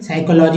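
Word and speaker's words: psychology: सा P silent है साइको पढ़ेंगे यहां पी साइलेंट है साइकोलॉजी यहां पढ़ेंगे यहां पढ़ेंगे साइकेट्रिक साइकेट्रिक यहां तो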